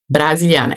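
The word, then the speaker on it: Brasilianer: Brasiliana. E esse er é pronunciado a a brasiliana.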